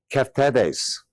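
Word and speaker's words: keftedes: s but it's pronounced kees okay so that D is kind of a t sound and basically it's a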